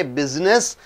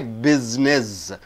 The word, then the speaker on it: business: You don't say business. You say business. After you, S comes, so S is changed into Z. Double S. So Z.